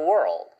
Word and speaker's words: world: 이거는 were까지는 똑같은데 L을 한번 튀겨줘야 되는 거예요. 그래서 world, world.